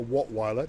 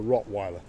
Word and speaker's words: Rottweiler: need a German Shepherd or a w a wattweiler no a Rottweiler Civic we call it rot Yeah in our pronunciation we say rer rotw rotw and there